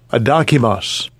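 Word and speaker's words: ἀδόκιμος: We'll get the pronunciation of it. Strong's G96, adokimos.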